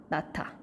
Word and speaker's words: 낳다: 네, 뭐 아기를 낳다 이렇게 할 수 있는데 낳다라고 적혀 있지만 아무도 낳다라고 하지 않아요. 한국 사람이라면 네, 자연스럽게 발음하면 낳다가 되죠. 바로 무엇 때문이다? 히읗과 디귿이 만나서 같은 조음 위치와 방법의 같은 그렇지만 소리만 더 격하게 소리가 나는 격음인 티읕으로 바뀌게 되는 거죠.